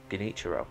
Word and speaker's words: Genichiro: Genichiro. That's how his name's pronounced.